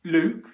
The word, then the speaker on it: Luke: short u vowel sounds so luke which is a name in english luke luke luke is a long o vowel sound luke luke luke look is a short english vowel sound look look look so